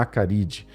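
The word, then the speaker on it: Acaridae: Se fala, se escreve acaridai do latim com a maiúsculo gênero e se fala acaride.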